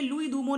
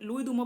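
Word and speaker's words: Louis Dumont: होमो हायरार्किस जो है ये लुई दूमो ने किया है, लुई दूमो प्रोनाउंसिएशन होता है, ओके।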